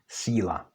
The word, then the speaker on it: síla: So in contrast to d, t, n, when c, s, z are followed by měkké i, they do not change. So this is actually pronounced síla, which is power.